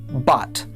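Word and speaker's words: בת: Again this bait has a dogish. So it is pronounced b. Comets is a and tav is t. Al together this is pronounced bot.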